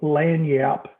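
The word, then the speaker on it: lagniappe: from oregon um the word is called land yap it's a cajun term uh from louisiana it's spelled p p e l-a-n-i-a-p-p-e it means a little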